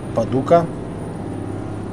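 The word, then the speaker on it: Paducah: Покидаем гостеприимный город Падука. Ударение на У.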